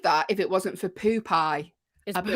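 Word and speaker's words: Poopeye: Okay, how do you pronounce P-O-O-P-E-Y-E? How would you say it? Oh, it is Poop-Eye.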